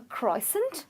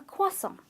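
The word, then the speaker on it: croissant: would say it's a crossing or a cross on but it's actually a cross on ok so the r is silent there's an invisible w that appears in the pronunciation it's closer ok you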